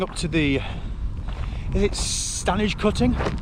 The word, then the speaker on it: Stanage: So we're now about 45 kilometres in, and we're coming up to the, is it Stanage cutting? Stand edge. It really is. It's pronounced Stanage, but it's stand edge.